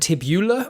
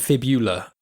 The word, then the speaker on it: fibula: Is it fibia and tibula, or is it tibia and fibula?